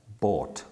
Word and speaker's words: bought: with snow though and which one rhymes with sort that's bought as you can see